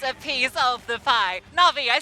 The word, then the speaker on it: Na'Vi: Na'Vi, I said it right there.